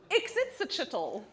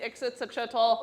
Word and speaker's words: Ixitsachitl: Very close. There's one more syllable in there that you need. Let's see Ixitsachitl. Where is it? Who knows? Other way. There it is. Ah! Ixitsachitl.